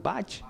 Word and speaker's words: Bach: podría tocar la fantasía cromática en acuerdan Johan, o sea, Juan Sebastián, ¿cómo se pronuncia ese alemán? Bach Bach Bach.